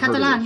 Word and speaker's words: Catalan: Uh, but it's C A T A like Katalan. I've never heard Catalan.